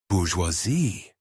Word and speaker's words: bourgeois: "French signature, the silent S at the end, the ois sound."